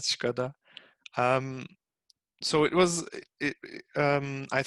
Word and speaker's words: Škoda: Like everyone, what we already knew about Škoda, although in Turkey it's pronounced Skoda, not Škoda.